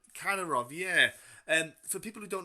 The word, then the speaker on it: Kadyrov: Is it pronounced Katarov. Kadyrov?